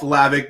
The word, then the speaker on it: Hlavac: butcher that man like it's not that hard the h is silent yeah i think it was just more of the the more not like he was trying to tick off lavic but it was just